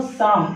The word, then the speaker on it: Psalm: दोस्तों, साम, इसको हम पी साइलेंट करते हैं, साम ही पढ़ते हैं, द सम ऑफ लाइफ।